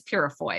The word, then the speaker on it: Purifoy: And I actually forgot to ask you, it is Purifoy, am I right? That's right. Yeah, you said it very well, actually. People usually say it more how it's spelled, but you said it just how we say it in my family.